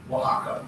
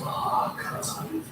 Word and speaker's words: Oaxaca: Oaxaca. That's Oaxaca.